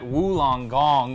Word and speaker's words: Wollongong: It was all about Kara Webb at Wollongong, which I've learned to pronounce correctly now.